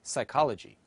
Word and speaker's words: psychology: JIT as in gentle the letter P is pronounced as P as in pen or foot as in photo and silent as in psychology the letter B is